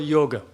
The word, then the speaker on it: yoga: yoga it's yoga but a lot of people in English I say yoga because it is spelled y-o-g-a but that that last a is girl rather than God but in Western countries